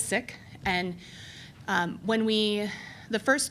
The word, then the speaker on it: Sikh: says both pronunciations but what I learned from our friends with the standards is that it is sick and when we the